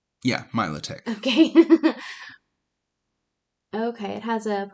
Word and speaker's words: Milotic: Yeah, Milotic.